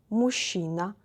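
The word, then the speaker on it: мужчина: of them are masculine mushina be careful with pronunciation we read like this i will repeat it here we don't need to read every letter like and you see the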